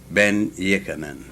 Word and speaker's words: Ben-Jochannan: Everybody says Dr. Ben, but I know there's more to it than that. So give me the full name is Yosef Alfredo Antonio Ben-Jochannan.